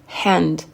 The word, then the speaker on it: hand: Main, hand, hand. Le H, il est soufflé, donc on le prononce bien, ok? On ne dit pas hand, on dit hand.